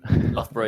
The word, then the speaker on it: Loughborough: Is that how you pronounce it? Loughborough, yeah.